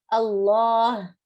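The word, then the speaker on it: الله: Allah, you hear a Ha sound in the end.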